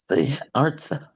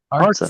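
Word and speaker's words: אַרְצָה: All right, this one also has penultimate stress. So therefore, that's a silent schwa. Artsa. That's it. Artsa.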